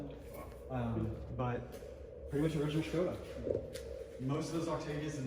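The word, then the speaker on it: Škoda: Here, Skoda Octavia. The U.S. pronunciation would be Skoda, but it's actually called Skoda.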